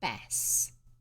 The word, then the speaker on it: bass: particular type of fish a bass which is said bass not bass that came from farringdon